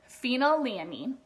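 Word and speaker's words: phenylalanine: amino acid as well it is pronounced phenyl a mean okay this amino acid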